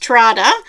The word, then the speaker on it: Trader: Trade Square or Trader, although I think Trader's pronounced Trada. I always call it Trader because that sounds more Australian to me.